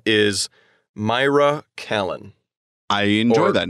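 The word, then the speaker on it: Kalan: colon i would say i would say callan callan okay we usually stress the first symbol syllable so her name is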